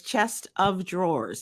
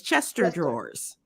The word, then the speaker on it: chest of drawers: she married her husband she didn't realize that it was chest of drawers it was in her mind it was Chester drawers well Yolanda we know